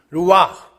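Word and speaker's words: רוח: 루와 흐자는 원래 발음 안 하니까 루와 성령, 콧김, 생기 똑같은 단어.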